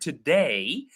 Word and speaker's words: today: You notice even the word today, I put more stress in the second syllable they than into. Right?